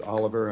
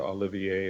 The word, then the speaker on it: Oliver: they're representing Rodney Oliver he pronounces it Oliver I try to Olivier and various variations and he always corrected me so it's back to Oliver we and we did